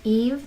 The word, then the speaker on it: Yves: That is Y-V-E-S, Eve. The S is silent.